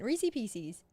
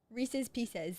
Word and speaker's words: Reese's Pieces: Reesei Pieces. Reese's Pieces.